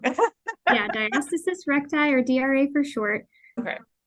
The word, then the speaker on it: diastasis recti: it I think I say it wrong yeah diastasis recti or Dr for short okay yeah so to